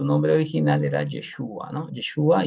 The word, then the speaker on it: Yeshua: traducido no en realidad el nombre correcto es yeshúa yeshúa no Pero obviamente con con